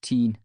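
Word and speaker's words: Tyne: Everyone calls the river the tine. Back then, we pronounced it teen, but it was just our word for river.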